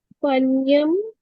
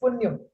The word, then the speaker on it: Punyam: Panyam, that how you pronounce it? Hi, no, it's Punyam.